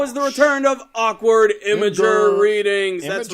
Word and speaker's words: Imgur: Even though we've been calling it awkward Imgur, I'm going to start referring to it as Imgur because apparently that's the way to actually pronounce it.